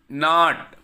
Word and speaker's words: knot: It is knot. Knot. Answer. Answer. Two. Two. W is silent here.